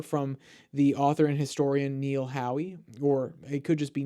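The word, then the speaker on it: Neil Howe: the author and historian Neil Hoy or it could just be Neil how if the E is silent sorry sir for mispronouncing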